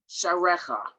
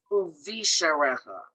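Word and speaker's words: וּבִשְׁעָרֶיךָ: Sharecha. Nope, you have to pronounce that syllable. Uvi sharecha. Good.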